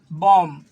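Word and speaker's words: bomb: क्यों है, इसको देखिए इसमें दिया हुआ है बम, इसको बम पढ़ेंगे। अगर नहीं पढ़ने आएगा तो इसको बम पढ़िएगा, लेकिन इसमें बी साइलेंट है ना।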